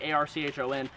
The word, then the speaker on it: Archon: I was like A-R-C-H-O-N. I think it's pronounced Archon Firearms. I'm not 100% sure, but this is the